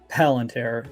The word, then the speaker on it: Palantir: companies so it says a planetary palantir is how you pronounce it they're doing quite well